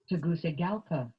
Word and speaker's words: Tegucigalpa: TEGUCIGALPA. Did you hear that? So it isn't a soft TEGUCIGALPA. That's much easier to say. TEGUCIGALPA. TEGUCIGALPA. TEGUCIGALPA. TEGUCIGALPA. It's a goosey place, not a Gucci place or a gookie place.